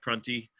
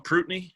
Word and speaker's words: Prunty: Some of that showed up in those freshmen like Prunty, which doesn't Les call him Prutney every time? You never know how he's going to pronounce it. Oh, he's done it right? Yeah. Okay. I feel like I only hear him say Prutney, and it makes me question myself, because I'm like, have I been pronouncing this thing wrong?